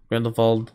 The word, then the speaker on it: Grindelwald: in the world or Grindelwald ran the bald as Dumbledore pronounces it and he's the only one who does he's the only one who pronounces it that way and the whole movie so